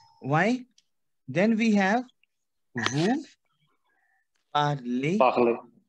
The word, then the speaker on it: parlez: Then we have vous parlez. Why parlez? Tell me. Because EZ sound is A in French.